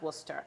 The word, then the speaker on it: Worcester: not being mean but I said it is pronounced Worcester and then she showed me the spell and